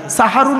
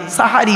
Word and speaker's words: সাহারি: দিলে দন্তেশয় আকার দিলে সাহারুন মানে হল রাতের শেষ অংশের খাবারকে আরবিতে সাহারি বলে তাহলে শব্দটা কি হবে সেহরি না সাহারি তাহলে ভুলটা ভাঙলো জলসা